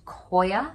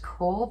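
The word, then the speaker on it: coir: thumb I tend to use houseplant soil coconut core I looked up how to say cool it is cool firstly it's I've recently learned that that word is pronounced coia not core but I've been saying Coral this time um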